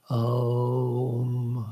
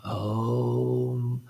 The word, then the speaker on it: Om: In Sanskrit, the vowel O is considered to be made up of the sound A plus U, O. And so in Om, if to pronounce it correctly for the purposes of meditation, one should begin in the back and move gradually up to the lips with the closing sound of Om, Om.